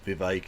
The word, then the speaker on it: Vivek: There's no way he'd have done this conversation, considering how badly it went for Vivek, it rhymes with K.